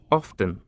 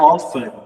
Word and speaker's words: often: coisa interessante often seguinte a palavra often ela tem duas pronúncias possíveis aqui nos áudios de cima se eu não me engano foi esse T que tá aqui ele pode ser pronunciado se você quiser então você pode